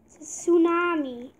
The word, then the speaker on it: tsunami: okay it's a tsunami tsunami but the T is silent right mm-hmm so it looks like two tsunami but it's tsunami oh no gotta get